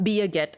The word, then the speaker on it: Birgit: it's Birgit. Like it's like Birgit, but it's Birgit. Biaget.